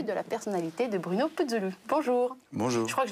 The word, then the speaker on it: Putzulu: le visage inattendu de la personnalité de Bruno Puzzoulou. Bonjour. Bonjour. Je crois que je l'ai mal prononcé, c'est pas Puzzoulou, c'est Puzzoulou.